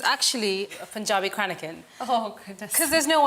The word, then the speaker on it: cranachan: You're doing a very good job on pronouncing it because Cranachan. it's cranachan. But Cranachan. you're pretty good at that. Yes, you're. So you say cranachan.